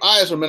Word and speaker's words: Yzerman: to that cup one you notice I did pronounce his name Steve Yzerman I didn't go Bill Clinton like a 90